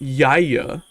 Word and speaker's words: YIAY: It's definitely pronounced Yaya.